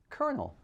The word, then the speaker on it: colonel: as in colonel sanders it seems that the word colonel as in colonel sanders came to our english language from the mid 16th century french word coronel which means commander of a regiment or column of soldiers hence the r sound and if it's not